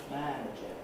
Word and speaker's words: manager: If I don't do that, if I keep man as long as it is on its own and then fit on the other syllables, I get a strange pronunciation. Manager, manager, manager. This should be manager, because of the effect